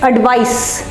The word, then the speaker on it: advice: So here it's pronounced, it's spelled ICE and pronounced with an S, and there it is pronounced with a Z.